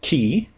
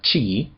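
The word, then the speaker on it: χῖ: The first letter is ki, not chi, ki.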